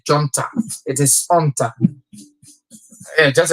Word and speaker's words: junta: And I know you heard me pronouncing the word that start with J as junta, but yeah, you don't pronounce the J, you don't say junta, it is junta.